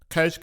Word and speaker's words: Kölsch: Kölsch, it's pronounced like Köln.